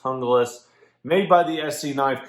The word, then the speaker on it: Junglas: Some people say it's Junglas, but it's actually pronounced Junglas.